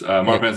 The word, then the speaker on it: Marfan: Am I pronouncing that correctly? Yeah, you were correct. Marfan syndrome, I've been diagnosed since I was 11 years old.